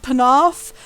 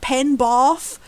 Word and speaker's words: Penarth: name of like the region of Wales called Penarth. Every single time they pronounce it Penbarth, which is not a place in Wales ever.